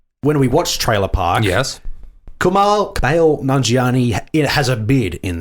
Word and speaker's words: Kumail: And I'm sure we say his name wrong. It's Kumail, but either way, we absolutely adore him, and this is perfect for him.